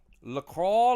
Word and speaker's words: LaCroix: LaCroix like enjoy. That's right, Squigs Music. That's exactly how you say it.